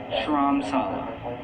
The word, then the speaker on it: Dharamsala: Dharamsala. I don't think you pronounce the D. I think it's Dharamsala.